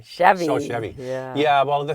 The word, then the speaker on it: Chevy: in that family and it rhymes with heavy rmes with heavy Chevy so Chevy yeah well